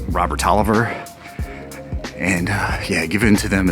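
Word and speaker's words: Taliaferro: a gift from his wife Elizabeth's father Robert talero pronounced Robert Oliver and yeah given to them as a wedding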